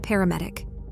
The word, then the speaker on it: paramedick: You see, he has a special skill called paramedic, with the stress placed on the last syllable, which basically means that his cobra has healing properties.